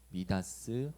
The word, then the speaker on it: 미다스: 어, 우리는 손만 대면 뭐든 성공시키는 사람을 두고이 마이더스의 손이라고 부릅니다.이 마이더스는 영어식 발음이고요. 그리스 신하에 나오는 인물의 원래 이름은 미다스 왕입니다.